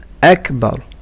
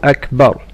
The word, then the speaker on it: أكبر: And in أكبر say the ألف clearly and not a واو. الله أكبر. الله أكبر.